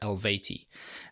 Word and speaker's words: Eluveitie: went onto Google and apparently it is elevate e they are a Swiss